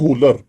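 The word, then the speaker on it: Wöhler: वो था आपके पास 1818 में एक साइंटिस्ट है, WOHLER, इसको बोलते हैं होलर, clear, it is pronunciate as द होलर।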